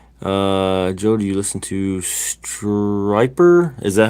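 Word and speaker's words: Stryper: Then it is definitely pronounced Striper, not Stripper. All right.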